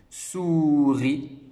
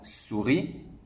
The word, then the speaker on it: souris: à illies à petit est ce qui est une lettre muet souris et attache bien sûr